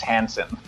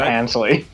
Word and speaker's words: Hanson: just for clarification everyone my name is hanson not hansley did i say it's because i was thinking yeah you mixed my first name and last name tell us which characters